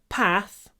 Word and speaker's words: path: I know a path through the forest. Это вот еще одно слово, которое на юге, на севере произносится по-другому. Path. Это северное произношение. Path. Двойной звук. Южное.